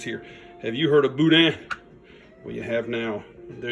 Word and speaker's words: boudin: That's where I buy my Boudin. And remember, you don't pronounce that N.